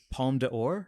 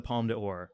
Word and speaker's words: Palme d'Or: Please pronounce it better than me. Palme d'Or? Palme d'Or, yeah.